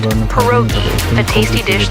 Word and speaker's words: pierogi: Did I pronounce that right? It's pronounced pierogi, a tasty dish like dumplings.